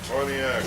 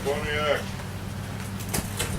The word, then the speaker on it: Pontiac: was act otherwise uh they pronounce it pontiac we say bonnie act great ottawa warchief a